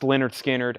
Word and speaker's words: Lynyrd Skynyrd: And back in stock is the Lynyrd Skynyrd, pronounced Lynyrd Skynyrd, Analog Productions, 45 RPM.